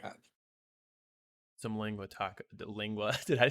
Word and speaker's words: lengua: Try saying that the It's tacos are pronounced fire. lengua.